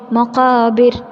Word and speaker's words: مقابر: തന്നെ ആ ആയത്തിൽ നമ്മൾ ശ്രദ്ധിക്കേണ്ടത് മഖാബിർ ബിർ എന്ന റായിനെ നമ്മൾ കനം കുറപ്പിച്ചിട്ട് വേണം ഇര് എന്ന് ആയിട്ടാണ് നമ്മൾ പറയണം ചെയ്യേണ്ടത്. മഖാബിർ എന്നാണ് നമ്മൾ പറയണം ചെയ്യേണ്ടത്.